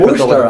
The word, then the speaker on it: Worcester: University of Massachusetts in Worcester, did a fellowship Worcester, I know. Worcester. So there's Dorchester. Right. You can't understand these Massachusetts people. And then there's Worcester, and they're both spelled with a T-E-R.